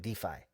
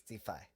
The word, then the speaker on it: DeFi: crypto now so uh I asked him how you say DFI def Del defi or whatever how do you say it and he's like defi so I'm like okay that's what it is defi um basically leverage trading